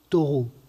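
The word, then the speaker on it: Thoreau: qui est celle de folle au taureau pour prononcer à la française auteur d'un petit livre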